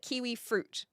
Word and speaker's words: kiwi fruit: New Zealanders don't say that. They call it kiwi fruit. It's got 3 syllables. If you're looking at a kiwi fruit, it is a kiwi fruit, because otherwise you're getting confused with the people or the bird.